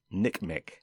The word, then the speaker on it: NCMEC: another acronym to know ncmec or the national center for missing and exploited children often pronounced nick mc that's a non-profit organization